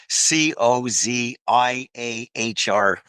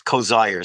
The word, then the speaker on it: Coziahr: And his last name it rhymes with desire. It's Coziahr, or pretty close to that, but it's Coziahr.